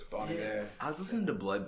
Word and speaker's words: Bon Iver: Bon Iver. But Bon Iver. Yeah. Are you listening to Forever Forever again? No, I was not. I was listening to. It's French apparently, so it's Bon Iver.